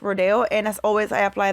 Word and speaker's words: Rodeo: the ofra Rodeo Drive I always say Rodeo Rodeo I don't know why but I was always mispronouncing it but it is rodeo and as always I